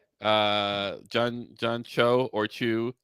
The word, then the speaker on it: Cho: I was talking about which is John Cho, not John Chu.